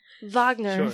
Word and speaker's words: Wagner: It's pronounced Wagner. Wagner.